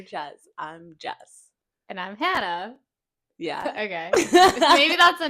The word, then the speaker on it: Hannah: Massachusetts I noticed that people when they say my name they have like a certain infliction where they go hand instead of like Hannah Hannah Hannah and I